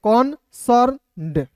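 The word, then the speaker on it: concerned: ई आर एन कॉर्न और ई डी है कौन सर्ड इस तरीके से पढ़ते हैं ए को अ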